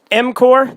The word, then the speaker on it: M-Corp: m-corp, the P is silent, and Skipper.